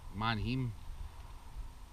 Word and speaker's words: Manheim: I really wanted to meet somebody so I know how to pronounce this auction place. It's Manheim.